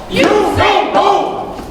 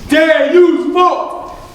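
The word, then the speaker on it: Deus vult: Usain Bolt! You're saying it wrong. It's supposed to be Deus Bolt!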